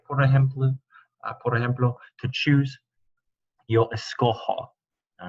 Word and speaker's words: escojo: All right, the G would turn to a hard G if it were to remain in the yo form. Escogo doesn't match escoger, so it would be escojo. The J in Spanish is an H sound.